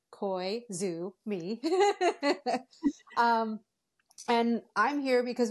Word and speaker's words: Koizumi: band we are called Kumi and then you pronounce it like koisu me um and I'm here because we just came